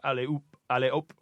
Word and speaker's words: alley-oop: So alley-oop, like that. So it sounds like up.